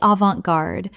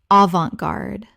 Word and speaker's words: avant-garde: Avant-garde. Common mispronunciation. Avant-garde. Correct pronunciation. Avant-garde. 3 syllables with the T silent and the an making an on sound. Example: her photography is deliberately avant-garde and challenges viewers to